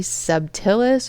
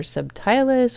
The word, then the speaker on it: subtilis: very first batch of be subtillus or subtilus or subtilus. I'm hearing it pronounced all sorts of different ways. I usually just call it subtillus. So that's what I'm going to go with.